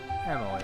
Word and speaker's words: Emilie: introduce myself I'm Emily a perfumer from Fontaine Emily okay that's how you pronounce it Pon is Pon thank you so